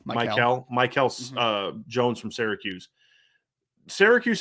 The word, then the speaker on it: Mikel: Is how you pronounce his name? Mikel.